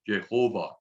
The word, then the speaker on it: Jehovah: as a brief aside, if we take the vowels from the word, the pronunciation of Adonai, and we fit them between the letters Yod, He, Vav, He, that's how we get the pronunciation Jehovah.